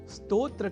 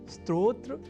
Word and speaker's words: स्तोत्र: यदि हम यह ध्यान में रख लें तो कभी भी स्तोत्र के स्थान पर स्त्रोत्र या स्त्रोत जैसे उच्चारण या लेखन हमारे प्रयोग में ही नहीं रह सकेंगे। अर्थात हमें इस शब्द के उच्चारण की ओर अधिक साकांक्ष रहने की है आवश्यकता ताकि हम आज की प्रवृत्ति या कुप्रवृत्ति के अनुसार इस शब्द से जुड़ी अशुद्धियां ना करें।